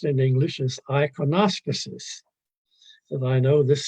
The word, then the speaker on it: iconostasis: Now, the sanctuary screen, the word for it in English, anyway, it sounds funny, but the word, the way it's pronounced in English is iconospuses.